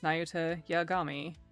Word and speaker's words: Nayuta Yagami: I'm Nayuta Yami. Actually, his name is Nayuta Yagami. Just walking into the room, he bumped into the door, tripped over his own feet twice, and mispronounced his own name.